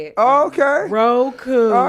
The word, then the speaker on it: Roku: Roku.